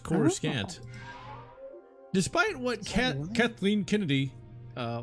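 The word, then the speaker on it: Coruscant: Narcita Zju 5 Creor Corissant used to be pronounced Cororusant.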